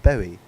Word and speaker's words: Bowie: was a sure people is it boy is it Bowie is it like Bowie is it but what is it like how do you pronounce it and I'd be like oh it's a David Bowie and I'm like okay